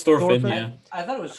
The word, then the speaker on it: Thorfinn: It's Thorfinn.